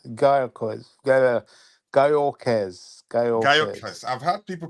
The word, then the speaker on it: Gyökeres: explaining how his name was said, and it's Gyökeres, something like Gyökeres. Gyökeres. Gyökeres. Gyökeres. I've heard people pronounce it Gyökeres.